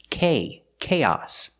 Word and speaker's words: chaos: let's compare the two with chaos the stress is on the first syllable on the a sound K chaos but with chaotic the